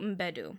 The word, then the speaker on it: Mbedu: There's Viola Davis as Naniska, and then there's Nawi is played by Tuso Mbedu. So they pronounce the M, okay.